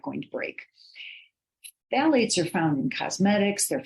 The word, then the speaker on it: phthalates: The pH is silent, so this is phthalates.